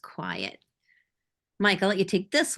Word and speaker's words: QIAT: services with quiet and Qi a t is pronounced quiet Michael let you take